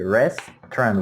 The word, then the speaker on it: restaurant: Then the word restaurant, it only has 2 syllables. So we say restaurant. We don't pronounce these vowels in the middle.